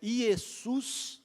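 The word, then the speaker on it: Ἰησοῦς: No grego é isus, aquilo que parece um n ali, na verdade é o eta e o o o ou que é o ôicron y eh pronuncia como u.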